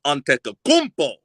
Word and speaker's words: Antetokounmpo: his his whole name right but I can pronounce it correctly Giannis antetokounmpo you know what I'm saying what is it